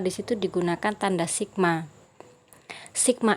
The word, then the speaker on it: sigma: Di situ ada tanda sebelum F, itu bacanya adalah sigma.